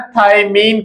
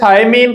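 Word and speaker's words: thymine: यहां पर एक और सीखने के लायक बात है कि थायमीन को थायमीन ही पढ़िएगा, थायामीन नहीं पढ़ना।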